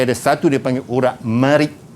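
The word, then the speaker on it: مريء: Di sebelahnya, depan dan belakang tu, dia ada satu dia panggil urat marik. Ejaan dia marik, mim, ra, ya, hamzah. Marik. Okay, dalam jawapan nanti, dalam SPM nanti, jangan tulis bereh. Jangan sesekali.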